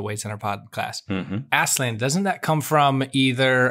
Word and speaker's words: Aslan: the letters to children he said that he pronounces it aslan so there you go